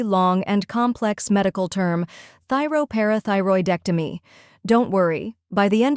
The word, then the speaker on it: thyroparathyroidectomy: have thy row where thy sounds like thigh and row rhymes with row then par where the